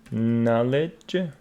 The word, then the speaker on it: knowledge: got KN we got knowledge mhm we got no all of them K before n is not pronounced and here we got